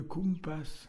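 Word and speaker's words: compàs: Donc, Sébastien Kogan, on parle un tout petit peu de Kumpas, Oui, qui s'écrit Kumpas. qui s'écrit, oui, comme un compas, en fait. C-O-M-P-A-S, avec un accent sur le A, qui veut dire en occitan le tempo.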